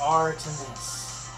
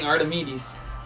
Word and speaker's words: Artemis: It's pronounced Artemis. Artemis? I'm saying Artemedes.